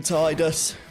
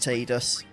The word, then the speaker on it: Tidus: there we go oh you should always call him tidus until square apparently said it's pronounced tdus was that in the